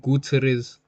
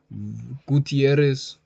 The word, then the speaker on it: Gutierrez: Caleb Wheeler and Guterres. Gutierrez. Oh, I I pronounced it wrong. I pronounced it wrong the whole time.